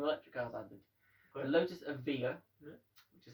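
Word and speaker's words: Evija: two brand new electric cars added the lotus avia which is how it's pronounced by the way and the porsche tycoon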